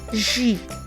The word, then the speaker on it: J: Then the interesting thing is that the J is now pronounced like G in English, but also without the stress. So it's as if G and J are interchanged, but without the stress.